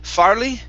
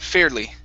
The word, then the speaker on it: fairly: Okay, so instead of farley, it's fair. Long A sound, fairly. Fairly.